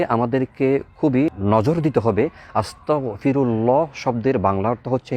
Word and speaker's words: আস্তাগফিরুল্লাহ: যারা বলে থাকে আস্তাগফিরুল্লাহ অর্থাৎ গইন এর জায়গায় ছোট কাফ আস্তাগফিরুল্লাহ ভুল উচ্চারণ করে থাকে কেউ যদি আস্তাগফিরুল্লাহ শুদ্ধ